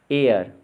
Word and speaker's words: heir: लगाइए कि कौन से अक्षर अनुच्चरित यानी कि साइलेंट है। ASTHMA, अस्थमा, इसको हम बोलेंगे एस्मा, ना कि अस्थमा कहेंगे। HEIR, एयर, ISLAND, island, DOUBT, doubt, REIGN, rain, WRAPPER, wrapper, WEDNESDAY, यानी कि वेंसडे।